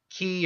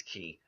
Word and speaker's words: qi: 60 miles an hour ki sense or get to put Qi ki depending on your pronunciation key or qui it's key um he can basically